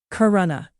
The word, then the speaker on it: Corunna: Storm moving into, I believe it's Corunna. Let's find out. Let me make sure it's on Canadian English. Let's find out. Corunna.